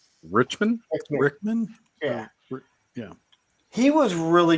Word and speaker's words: Rickman: Alan Richter? Richmond? Rickman?